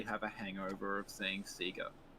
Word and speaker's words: Sega: a question for richie is sega pronounced say go or seagull in australia right so if you in the 90s it was absolutely pronounced sega they said sega in their ads they're like they had their own tv show that said sega everyone said sega and um they now say sega but if you're like